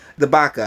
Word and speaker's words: CdeBaca: super hot can be the Baka I believe that C is silent sarcastic korone violet coronavirus